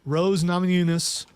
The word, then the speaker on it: Rose Namajunas: And then you have the co-main event, Rose Namajunas, finally I said it right, versus Carla Esparza.